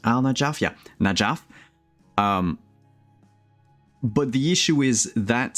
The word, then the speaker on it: Najaf: Is it pronounced Al Najaf? Yeah, Najaf.